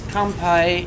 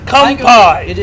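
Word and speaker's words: 乾杯: ] you too okay in japanese it's kampai in cantonese it's gombe oh maybe that maybe it was gambe maybe it was gumbay sorry yes kampai thank you show was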